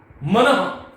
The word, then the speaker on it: मनः: देखो यहां पर इसका उच्चारण कैसे होना चाहिए, मनः, यशः, विसर्ग का ह की तरह कर्ण से उच्चारण होता है और इसकी जो ध्वनि आती है वो ह नहीं होता, तो मनः, यशः, तेजः,